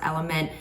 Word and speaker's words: LMNT: Element, so LMNT is what you would see on the package, but I think it's pronounced element. electrolyte mix.